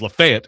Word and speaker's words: Lafayette: He's actually from the the other town that's hard to pronounce if you're not from here, which is Lafette, which he says Lafette is right.